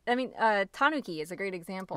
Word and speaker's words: tanuki: great example right right in Japan you say Tanuki but I mean we've probably said this before but people here say to Nuke Tanuki English-speaking Americans put it on the second syllable and in Japan a lot of times it's on the first syllable yeah but it's hard